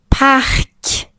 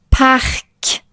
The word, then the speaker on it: parc: Si le me finit par les lettres C, R, L ou F, on prononce normalement la consonne finale. Par exemple, cheval, ce n'est pas cheval, c'est cheval ou parc. parc ou créatif créatif et et cetera.